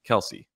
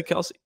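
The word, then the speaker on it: Kelce: something that i have in common with jason kelsey should i say kelsey it's actually pronounced kels but apparently growing up his dad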